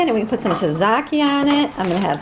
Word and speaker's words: tzatziki: The tzatziki, or tzatziki, that's how you say it, tzatziki dressing, so, so good.